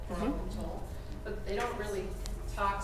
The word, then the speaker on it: atoll: actually refers to an atoll, that's how you pronounce it, atoll, coral atoll, but they don't really talk specifically about the